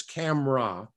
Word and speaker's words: CAMRAS: uh it's uh c-a-m-r-a-s pronounced I believe in Native Dutch is camera without the S being pronounced it's in the town